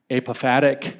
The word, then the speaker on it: apophatic: fancy name in fact apophatic I think is how you say it or apathetic theology it